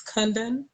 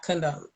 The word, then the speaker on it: Kundan: pronouncing your name wrong it's kundan not condom you pronounce it is